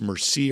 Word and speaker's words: Mercier: It's mercier. And that's spelled Mer S.